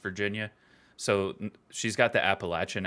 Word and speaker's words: Appalachian: raised in West Virginia so she's got the Appalachian accent and we've now lived thank you for